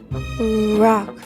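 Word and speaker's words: Rocque: Rock. Simon Rock. He pronounced it rock.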